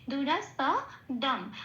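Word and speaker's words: দুরাসদম্: পূর্ণরূপে উচ্চারিত হবে খেয়াল রাখতে হবে এখানে যন্তসের উচ্চারণ সারেগামা পায় যে সটা বলি সেটা স তো স এরম বলতে হবে দুরা স দম আচ্ছা ম হসন্তটা শ্লোকের মধ্যেই আছে খেয়াল রাখতে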